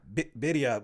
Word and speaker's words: birria: Birria, but the way. Birria. But I guess the way Hispanics say it, Spanish, the way they say certain letters.